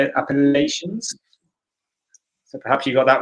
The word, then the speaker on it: Appalachians: are the appalachians that's how you say it appalachians so perhaps you've got that one i think